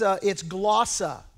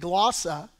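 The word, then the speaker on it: γλῶσσα: Now that phrase, other tongues, in the Greek, it's glossa. That's how you pronounce it in the Greek, glossa.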